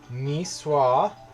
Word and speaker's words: Niçoise: what constitutes a Niçoise salad, like what should actually be in it.